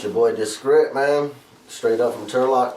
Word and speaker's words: Discript: Discript, kind of like descriptive, you know?